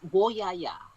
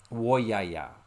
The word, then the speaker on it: Woyaya: And I'm not sure if I'm going to pronounce this right, but the Woyaya song? It's Woyaya. Woyaya.